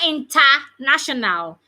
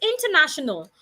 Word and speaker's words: international: of my native language it's not interational it's International talking about the word International anytime we are pronouncing a word the ends with suffix a l suffix al and know word is international the a there should not sound a it's not International the a sounds International another example is Hospital